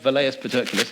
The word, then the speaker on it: Velleius Paterculus: for you say, well, isn't there that guy, Velleius Paterculus is how you say it, who wrote during the emperor's lifetime?